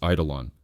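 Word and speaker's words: εἴδωλον: The Greek word eidolon, pronounced eidolon, originally meant phantom or image.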